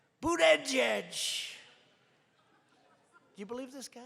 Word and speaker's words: Buttigieg: I think it was boot edge edge. Boot edge edge. They said, think of it as boot and then edge edge, because nobody can pronounce this guy's name.